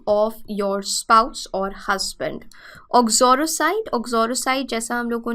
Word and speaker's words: uxoricide: सो यूक्सोरिसाइड को हम ऑक्सोरोसाइड की तरह प्रोनाउंस करते हैं, ऑक्सोरोसाइड।